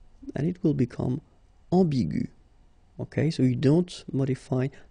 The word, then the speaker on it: ambigu: Another example is ambigu, and it will become ambigu. Okay, so you don't modify the way to pronounce them.